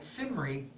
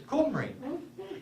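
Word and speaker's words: Cymru: signs saying C-Y-M-R-Y, and I was calling it Simri, and one of the Welsh people says, that's not how you pronounce it, it's Qumri.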